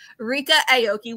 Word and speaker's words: Ryka Aoki: lesson in how to say her name correctly, Ryka Aoki.